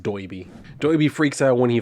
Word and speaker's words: Doiby Dickles: talking to Doiby Dickles, although he calls him Derby here, but with the way that Doiby talks, it's pronounced Doiby.